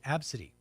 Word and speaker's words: Abcde: whose child is named Absy. Abs. Absy, which sounds nice, right? Sound I guess. Spelled ABCDE.